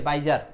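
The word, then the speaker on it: bizarre: ই হ্যাঁ এই যে বাইজার এই বাইজার শব্দটা আপনি মনে রাখবেন বাইজার শব্দের শেষে ই এর উচ্চারণ দরকার নাই আচ্ছা এই অদ্ভুতের ইংলিশ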